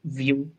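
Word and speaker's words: Vue: like that right but it's actually the french word for view so the like the creator intends it to be pronounced view and things like that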